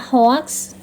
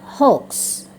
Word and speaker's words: hoax: Kadang dibaca hoax, sering kita dengar orang menyebutnya hoax, yang benar hoax, kebohongan.